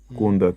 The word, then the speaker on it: Kunda: Kunda, Kiaki. Kunda, cadeira. Ok, ali quando você vê não se escreve assim Kikongo, não se põe acento, mas estou a meter para simplificar, é vogal longa.